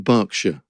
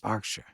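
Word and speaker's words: Berkshire: and not leester Square okay yes that's the pronunciation thing like it's in it's in barkshire oh barkshire yes barkshire okay hurricans hardly happen never mind um no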